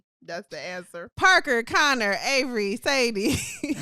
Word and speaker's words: Avery: Oh, so, Avery has 3 syllables. Sorry, go ahead. Avery, yes.